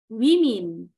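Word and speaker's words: women: ada men menjadi men woman menjadi wimin ya bacanya seperti itu ya woman menjadi children menjadi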